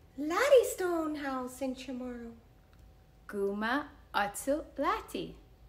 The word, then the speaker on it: Guma' Åcho Latte: Guma atu laddie. Guma atu laddie.